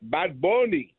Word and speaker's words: Bad Bunny: And by the way, my my Spanish friends in Montreal, they call it bad bony, bad bony.